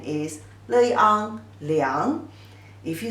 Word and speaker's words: 良: The pronunciation is exactly the same as 良, 乐安良.